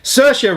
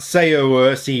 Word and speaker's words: Saoirse: I read it Margot Robbie 4i tanya is pronounce Saoirse saoirse ronan not say OSE Ronan for a ladybird whatever her name is